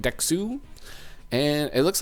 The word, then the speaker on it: DeXoU: ailla 2 good and dexu I believe is how you say it dexu and it looks like